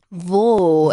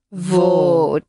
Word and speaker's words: Wo: Wo. Eso es. Una W que se pronuncia siempre como una V vibrada. Vale. Wo.